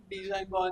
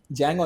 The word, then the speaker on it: Django: And then Deadpool, then Tarantino, Django Unchained, Django Unchained. Django Unchained. Other sir. The D is silent.